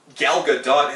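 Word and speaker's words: Gal Gadot: for and it's like galga dot has said that in interviews about Wonder Woman No actually she does pronounce the T I learned that this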